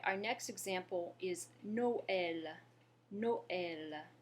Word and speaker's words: Noël: Noël. If you listen, you can hear that the vowels in the O and the E in Noël are pronounced separately. That's what the tréma does for us.